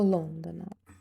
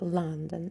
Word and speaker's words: London: А звук London. I want to go to London. Я хочу поїхати до Лондона. Дуже часто всі Лондон. Лондон. Правильно буде London.